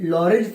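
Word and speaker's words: Lorentz: तो चलो अब बात करेंगे कि लॉरेंज फोर्स क्या होता है। अब किसकी बात करेंगे? तो लॉरेंज फोर्स की बात करेंगे कि लॉरेंज फोर्स क्या होता है। लॉरेंज, इसका टी साइलेंट है।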